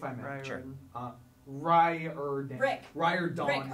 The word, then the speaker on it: Riordan: Riordan is actually how you say it.